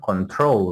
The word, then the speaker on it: control: So pronunciation of control with the stress on the last syllable.